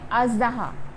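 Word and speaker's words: اژدہا: और ये है अज़दहा, तो आपने याद रखना है कि ज़ आप इसे प्रोनाउंस करेंगे और ये है मुज़गान,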